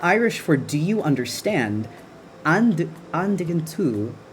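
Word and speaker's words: An dtuigeann tú: Andigantu, pronounced like on digantu.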